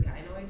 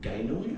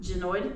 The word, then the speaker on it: gynoid: I'd say they need to have Genoid? Gynoid. That bitch never pronounced No, shit she right.